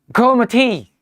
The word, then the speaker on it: Goormaghtigh: GOORMAGHTIGH, और इसका pronunciation पता है आपको? गोमथी।